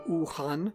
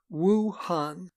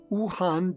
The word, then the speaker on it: Wuhan: of this city as wu han but in pinyin the chinese system of romanization w u is pronounced like the double o's in the english words